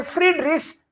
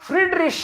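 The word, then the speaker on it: Friedrich: Here it इज शे because before ch a o u is not there. Generally before ch, if a o or u is there, in that case ch becomes kh, but here it is not kh, here it is sh.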